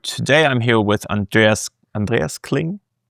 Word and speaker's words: Andreas Kling: Today I'm here with Andreas Andreas Clling. It's a very German name, so I tend to pronounce it very German.